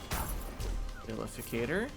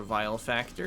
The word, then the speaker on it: Vilificator: Vilificator or Vile Factor if you uh say it wrong.